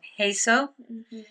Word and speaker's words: HESO: Um we have this thing coming up in um our little canton called Heso.